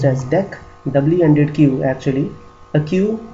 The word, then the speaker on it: deque: Okay, then the next concept is dequeue, also called dec. It is pronounced as dec, double-ended queue actually, a queue in which the insertions and deletions can be done on both the sides.